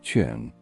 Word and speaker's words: Qin: The name China itself, Chin, pronounced Chin, gave birth to that name.